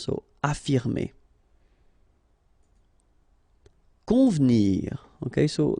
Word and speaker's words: convenir: Convenir. Okay, so the E here is not really pronounced, so first you've got this nasal, on, convenir, convenir.